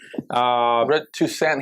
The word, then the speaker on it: Toussaint: Toussaint. He said the T is silent. It's like a French thing.